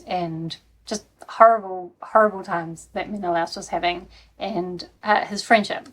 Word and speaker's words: Menelaus: I think it's Odysseus and Menelaus.